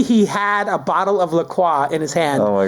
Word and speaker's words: La Croix: That rhymes with enjoy.